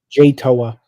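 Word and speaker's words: Jay Toia: Jay Toa.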